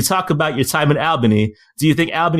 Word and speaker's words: Albany: get more more for saying Alban II instead of pronouncing the Louise wrong but it's Albany but that's cool a lot of people do